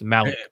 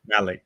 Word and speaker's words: Malik: reaction on Malik mus I keep saying his name wrong everyone keeps telling me it's Malik Malik what your thoughts on